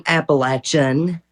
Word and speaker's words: Appalachian: that person but yeah thank you for saying appalachin thank you for saying it correctly that's right